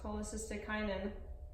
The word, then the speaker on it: cholecystokinin: yep exactly if plasma levels of secretin and cholecystokinin I pronounce that right yes cholecystokinin increased the volume of violin that goblet ba